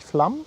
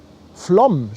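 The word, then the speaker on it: Flåm: "Flom" writes the chat. Flom. Do you pronounce that? Flom. Flom. An emphasized O.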